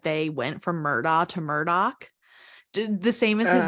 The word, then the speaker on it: Murdaugh: Like that's literally how their name is spelled, but it's pronounced Murdoch.